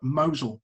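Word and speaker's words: Mousehole: this that in cornwall there's a place called mosul uh which is spelled moscow but it's pronounced mosul and that's the same like mosul in the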